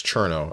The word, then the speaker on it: Cerno: Anyway, sending you guys to Cerno. Cerno_TV. Also known as Cherno. Apparently that's the right way to pronounce it, and I'm a fool.